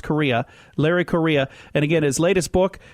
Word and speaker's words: Larry Correia: o r re e i a but it's pronounced Korea Larry Korea and again his latest book out right now